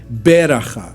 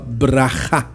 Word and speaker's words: Bracha: Então, por exemplo, no que você escreveu ali, Parashat Vezot Bracha. Então veja, a gente não fala Beracha, né? A gente nem Beracha, a gente fala Bracha. A ênfase no final da palavra.